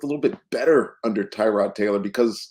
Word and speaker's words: Tyrod: um but we've determined that his name is trod he says Ty introduction he says Tyrod I'm like what does your dad you what